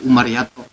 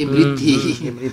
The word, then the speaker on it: Imriti: Makanya tuh kalau nggak salah ada satu keterangan, kalau nggak salah, kalau menurut santri mah katanya kitab Umariyato. Imriti mungkin. Ya, itu sebetulnya Imriti. Sebetulnya Imriti bukan Umariyato.